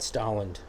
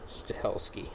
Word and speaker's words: Stahelski: highly action actually yeah especially being that chad stalin no no no chad stachowski stahlski stahelski that's his name that's how it's spelled too i wrote it correctly i know